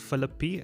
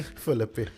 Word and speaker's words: Philippi: I said Philippi, and that's wrong. How do you say it, Charlie? Philippi. Philippi. Okay. Apparently, Philippi. by some parts of Cape Town, that's how you say Philippi.